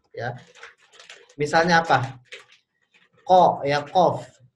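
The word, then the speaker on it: ق: misalnya apa qo ya qof Nah Q di lidah bagian belakang ya pangkal lidahnya naik itu Q dengan Kaf misalnya ya dengan Kaf k ya ini enggak bisa ditukar-tukar ya tidak tepat makhraj nya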